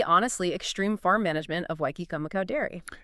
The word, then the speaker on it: Waikikamukau: genetics, and the honestly extreme farm management of Wy Kumako dairy. And uh yes, just for the record for you listening at home, that is actually pronounced white kumacow, which is just the best name ever.